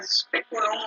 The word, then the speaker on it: speculum: Y diría speculum, o sea, imaginar que eran una tilde todas. En la primera sílaba, speculum tiene una tilde en la E.